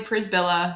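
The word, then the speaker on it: Przybyla: do yeah sure so my name is Julie prisbilla so p-r-z-y-b-y-l-a in case you never really knew how to say it pris Villa I get that a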